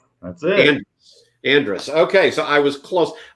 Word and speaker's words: Andrus: last name i have no idea how to pronounce andreas that's it andrus okay so i was close i just know